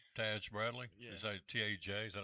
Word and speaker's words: Taj Bradley: Taj Bradley.